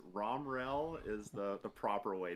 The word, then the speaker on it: Romriell: name starts with an r how do you pronounce that last name so it's rom rel is the the proper way to pronounce it